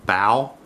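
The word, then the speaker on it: Bautz: Like my last name is BAU and then TZ, and it's OW, BOW.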